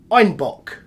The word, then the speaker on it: Einbeck: Due to their Bavarian accent, citizens of Munich pronounced Einbeck as Einbock, which translating means a billy goat.